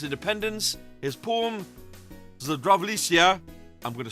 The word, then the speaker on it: Zdravljica: After Slovenia gained its independence, his poem Zdravljica, I'm going to spell that in case I've mispronounced it and offended anybody, that's Zdravljica.